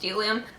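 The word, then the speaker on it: Bdellium: It starts with a B, but it's pronounced Delium.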